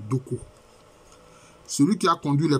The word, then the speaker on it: Dogbo: Ainsi, à Sayue, jusqu'à ce jour, existe la terre des Bangbu, dérivée de Bangbu, et la rivière Dogbo, prononcée Doko.